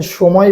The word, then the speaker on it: সময়: যেমন দেখেন সময় বানানে দন্তাস্ব, উচ্চারণে হয়ে গেছে কি? তালেবস্য। ভাষা বানানে মূর্ধন্য স, উচ্চারণে হয়ে গেছে কি?